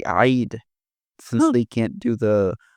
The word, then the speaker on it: Eid: Not all of them, but like I've seen America say Eid. It's like but it was like Eid but in Arabic they would say eyid since they can't do